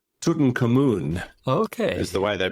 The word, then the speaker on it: Tutankhamun: It's Tutankhamun. Okay. Is the way they pronounce it.